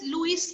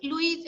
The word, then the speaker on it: Louis: तो लुई, इट इज लुइस नहीं लुई।